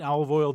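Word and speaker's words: Olive Oyl: chicken sandwich toils and i don't mean olive oil the oil i mean olive oil popeye's girlfriend which is spelled o-y-l and if you know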